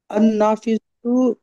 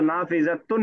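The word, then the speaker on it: النافذة: तो सफदर साहब, जब अल लग गया तो नाफिजतुन नहीं, अन नाफिजतु।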